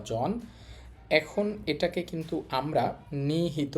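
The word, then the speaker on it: 人: মানে জাপান আর এখানে মানুষের কাঞ্জির উচ্চারণ হবে জিন চীন মানে মানুষ নিহন জিন জাপানের মানুষ আপনি সহজে এটাকে বলতে পারেন জাপানিজ এই ছিল আমাদের প্রথম কাঞ্জি।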